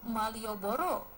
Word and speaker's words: Malioboro: pusat kota Jogja tersebut karena pengaruh pengucapan orang Jawa di mana huruf a dibaca o maka terdengar seperti Malioboro